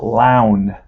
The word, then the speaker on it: Lown: pronounce his name yeah his uh name is la turk lounge like town lounge all right clown like town he's a bee and